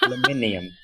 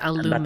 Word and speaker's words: aluminium: mention the fact that I don't care what you Americans say. As I told you in the last episode, aluminium. Aluminium. I think he means aluminum.